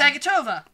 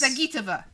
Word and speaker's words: Zagitova: Zagatova. Edges. Zagitova. Zagitova. That's it. Alina Zagitova edged out Venya Mendeva. It's not pronounced that way.